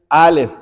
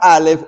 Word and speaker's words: alef: alfabeto griego el alef el alef no tiene pronunciación el es una es una consonante pero hagan de cuenta como si fuera una H muda para nosotros sí pero resulta que